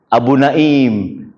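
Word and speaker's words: أبو نائم: Tapi jangan salah bacanya. Abu Naim pakai Hamzah.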